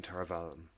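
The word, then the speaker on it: Tar Valon: Yeah, The I don't know how you hear it, but to me, it's always been Tarvalon. that's how the Oh, audiobook pronounces it as well as Tarvalon.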